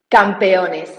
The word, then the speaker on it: Campeones: What was the pronunciation again? Campeones. Campionis.